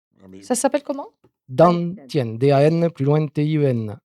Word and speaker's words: Dantian: Dantian, D-A-N, plus loin T-I-E-N. Pas dentier, dentien.